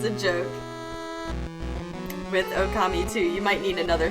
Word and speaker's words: Okami: It's hard to explain to how to say the O and Okami. Yeah, it's you have to say the O and then stretch out the sound a bit.